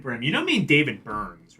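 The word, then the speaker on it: Byrne: You don't mean David Burns, right?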